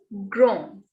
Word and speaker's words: grand: It will be pronounced as grand. Grand. D will not be pronounced, and the sound of A and N is on in French. On. It is a nasal sound.